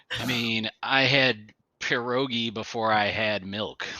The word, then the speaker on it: pierogi: So I feel like I mean, I had pierogi before I had milk. pierogi, roll your R, you Oh just my you God.